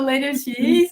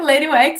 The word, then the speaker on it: Lady UX: No Lady X, né? Lady UX, né? Assim que se pronuncia.